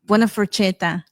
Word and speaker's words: buona forchetta: Buona forchetta. Buona forchetta. That's how you pronounce.